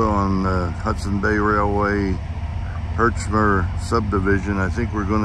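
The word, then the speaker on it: Herchmer: pick with Tony is spelled Pi K wi t o NE I hermer subdivision of the Hudson Bay Railway hermer spelled h e r c h m e r hey doggy he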